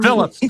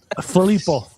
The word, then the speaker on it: Filippo: Phillip. Yeah, good man. I knew you could do it. Well done. Filippo. You got that extra syllable.